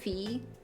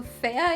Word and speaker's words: Fea: I'm guessing her name is pronounced Fee. But also Fea in Spanish means ugly.